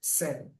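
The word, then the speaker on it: zehn: And 10 is zen.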